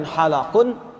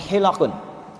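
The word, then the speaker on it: حِلَق: Perhatikan cara bacanya. Bukan halaqun, tapi hilaqun.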